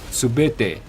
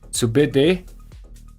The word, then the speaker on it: Subutai: And also the Subutai, the name is actually pronounced Subete in here in Mongolia. So it's the correct pronunciation is Subede, not Subutai.